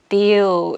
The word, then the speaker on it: deal: 그래서 이렇게 해서 big 이렇게 발음을 하는데 두 번째는 여기 점 2개 있는 거 보이시죠? 이게 장음을 표시하는데 이게 어떻게 발음하냐면은 아까 전에 이였잖아요. 근데 이거는 이렇게 발음을 해요. 그래가지고 deal 이렇게 좀 입이 조금 벌려지는 거예요.